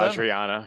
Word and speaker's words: Vajrayana: in numerous esoteric areas, including epigenetics, Tibetan, I pronounced this earlier today, Vajrayana, right? Buddhism. Vajrayana, yeah.